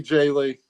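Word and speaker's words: Jae Lee: got to be Jay Lee.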